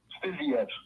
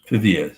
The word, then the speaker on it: Fiziev: How you say it? Fiziev. Fiziev. There's a V at the end.